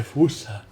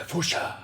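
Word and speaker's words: fossa: It's like beware of the Fusa. And then it's like, if you want to go the more traditional saying, it's like beware of the Fusha.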